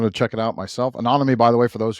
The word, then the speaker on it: Anonyome: I said, come to the Anonyme website and you'll see a bunch of different white papers and blog articles we've written in this space.